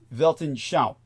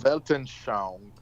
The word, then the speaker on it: Weltanschauung: worldview, is Weltanschauung.